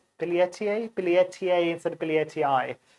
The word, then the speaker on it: billietiae: and they asked then she said no it's billie ettier billiertier billiertier instead of billie ti billyettier uh which